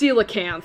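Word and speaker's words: coelacanth: Like basically if you know this that's pronounced cilacanth.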